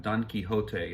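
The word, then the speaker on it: Don Quichotte: about the famous character don quixote in french pronounced don quixot from the classic epic so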